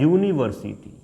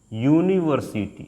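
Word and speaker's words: university: आयन लगा देते थे लेकिन इसका उच्चारण क्या होता है दोस्त उच्चारण की अगर हम बात करते हैं इसका उच्चारण होता है यूनिवर्सिटी यूनिवर्सिटी अब जो भी आप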